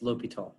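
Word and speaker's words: L'Hôpital: yeah that's fine no that's how it's spelled look you know but it's just pronounced l'hopital anyway okay okay i guess here we are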